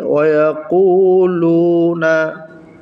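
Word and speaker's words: وَيَقُولُونَ: লাম ওয়াও পেশ লু, ওয়াকুলু, নুন জবর না, ওয়াকুলুনা, ওয়াকুলুনা। এখানে কফ ওয়াও পেশ কু এক আলিফ টান হবে, পেশের পরে জজমওয়ালা ওয়াও হওয়ার কারণে।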